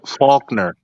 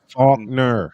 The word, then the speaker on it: Faulner: Faulner. It's like two syllables. Two syllables. Faulner.